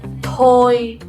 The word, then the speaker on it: thôi: So the first word, you will pronounce it tôi. And the second one, thôi.